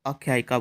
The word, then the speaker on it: आख्यायिका: हक झाले का जेवण इसको आख्यायिका बोलना है हमारा उच्चारण सही होगा तो हम लिखेंगे भी इसको